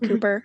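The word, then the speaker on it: Cowper: I thought that was very fascinating, especially learning that his name is pronounced Cooper and not Kelper.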